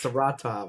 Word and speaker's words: Saratov: No, it's Saratov. That's Saratov. Okay, should we make that official? Like that is the. Well, that's how I've heard you say it. So that's It is, and that's how they say it.